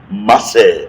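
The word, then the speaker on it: מעשר: hébreu de la dîme ça se dit dit masser en hébreu la dîme s'appelle ou bien se dit masser et masser s'écrit M a s e r et dans maer nous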